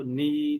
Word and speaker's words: knee: is no clue why k or what k sound or k the letter k is doing you know in these words you know like no knee knob etc so is the case